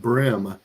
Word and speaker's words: bream: Pronounced brim. Interesting. Pronounced brim.